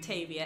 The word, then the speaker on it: Tavia: That being said, Tavia is obviously pronounced Tavia, and then Effie, and